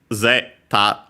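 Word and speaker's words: ゼータ: word and of course the accent is on the first syllable also uh zeta high and then everything else low.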